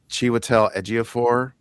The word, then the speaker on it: Chiwetel Ejiofor: See if I get this, but Chiwetel Ejiofor, Yep, you said something it like right.